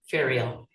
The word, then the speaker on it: Feral: Feral. Yeah, it's kind of a weird name because I I think I was a feral in Ireland and then they misspelled it. So, we're now ferals pronounced like burial just to remind you.